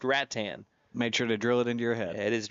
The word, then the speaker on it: Rattan: It's been too long ago, but Brena House was from Rat Tan and she corrected me time and time again that it is pronounced Rat Tan.